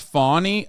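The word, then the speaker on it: Fani: right now one is it's pronounced fawny okay whatever I don't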